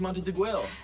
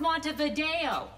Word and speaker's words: Montevideo: states of South America the capital of Uruguay is Montague it's pronounced Montevideo to it's on